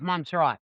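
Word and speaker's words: Montserrat: Monzerat. Is that how you say it? I didn't Google. I should have Googled. Yeah, it's Monserat.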